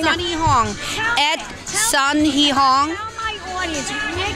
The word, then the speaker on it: Sunhe Hong: Sun like up there, S-U-N. He like boy, H-E. Hong like Hong Kong.